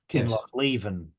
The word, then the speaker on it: Kinlochleven: And Paul Morris again has pointed out that the usual emphasis in Scottish place names is towards the end. So Kinlochleven. Yes. The emphasis being at the back of the.